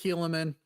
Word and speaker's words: Helaman: I feel someone should just at least one time say, Mormons pronounce it Helaman, but So shouldn't this be the book of Helaman then?